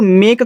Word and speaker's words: make: ठीक है, तो लास्ट वाले ई का आप साउंड नहीं निकालोगे। देखो, मेक का मतलब क्या होता है, मेक का मतलब होता है आपका बनाना।